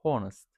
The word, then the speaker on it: honest: Bazı kelimelerin ilk harfleri olan ünsüz harfler okunmazlar. Örneğin honest yani burada he okumuyor da şeklinde okunuyor ve our yani how